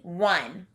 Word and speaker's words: one: our next word is one i hear the wha sound at the beginning of this word but i don't see a w as i would expect this is a tricky